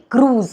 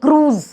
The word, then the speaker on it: cruise: அதே மாதிரி க்ரூஸ், இந்த கப்பலில் நம்ம பயணம் போகிறோம்ல, அது வந்து க்ரூஸ்.